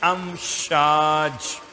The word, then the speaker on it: امشاج: خلقنا الانسان من نطفۃ امشاج، الف میم شین الف جیم، امشاج سورہ کا نام بھی